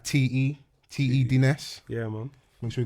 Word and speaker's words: Te Dness: So I'd like to introduce everyone to man like T.E. Dness. Yeah, man. Make sure you got the pronunciation correct. Yeah. T.E. Dness, yeah.